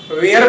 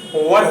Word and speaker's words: were: दोस्तों, WERE को आप वेयर बोलते हैं, लेकिन इसका सही प्रोनाउंसिएशन वर होगा। दोस्तों, वाज है सिंगुलर नाउन